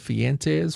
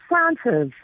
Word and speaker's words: Francis: if we're wrong, but Fentes from Mobile. Good morning, F. Is are we pronouncing your name right? Good morning. It's Francis.